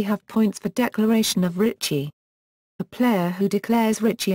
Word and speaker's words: rīchi: Some variations of Mahjong, most notably Japanese and Korean ones, allow a player to declare Richi, Lizi. Sometimes known as Reach, as it is phonetically similar.